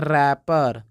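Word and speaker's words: wrapper: का मतलब होता है कलाई इसको पढ़ते हैं रैपर रैपर इसको पढ़ते है राइट जो कि आप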